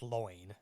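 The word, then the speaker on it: Lyon: And then just one minor note, I know it's spelt lion, but it's pronounced loin. I don't know why.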